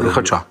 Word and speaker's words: Лихача: Лихача. Лихача. Лихача. Я потім ще запитаю про ті помилки в наголосі вашого прізвища.